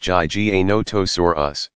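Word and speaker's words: Giganotosaurus: Gigantosaurus, pronounced Jai Ga No To Sor Us, was slightly longer at nearly 42 feet, 12.6 meters, long.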